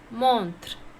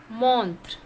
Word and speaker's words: montre: Montre. Montre means watch. How to pronounce? Montre. Montre.